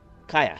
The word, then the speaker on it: Kaya: Kaya.